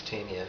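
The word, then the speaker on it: Tamien: Caltrain's supposed to arrive at Tamian, which they pronounce Tamian, at 5:39, and they arrive at 5:44 every day.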